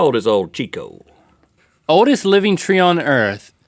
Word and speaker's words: Tjikko: Old Chico is a small spruce tree that lives in Dalarna, Sweden. That's how they say it, and bears a shocking resemblance to a toilet bowl brush.